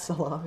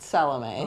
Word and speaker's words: Salome: and her snake friend salom not salami not salami it's pronounced salom oh okay oh snake